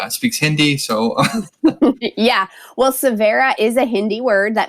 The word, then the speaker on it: Savhera: can find you and let's make sure we spell it as well because i know that not everybody speaks hindi so yeah well severa is a hindi word that means new beginning